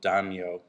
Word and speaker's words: Daimyo: It's actually pronounced similar to that. So we won't mind if you say damn you.